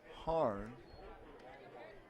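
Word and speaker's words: Harren: the infield and the first pitch from jt harn is ball one jt wearing the uniform of luxembourg the lefty dealing for foley and a fastball is in for a strike h-a-r-r-e-n but it's pronounced hard finishing up the order ben boothie will bet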